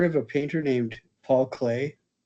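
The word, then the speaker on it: Klee: Have any of you heard of a painter named Paul Clay? His last name is spelled K L E.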